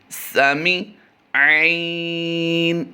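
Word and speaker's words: سميع: ہیں وہ ہے سامع۔ اس لفظ میں بھی عین کی ادائیگی کا خاص خیال رکھنا ہے کہ سمع کیسے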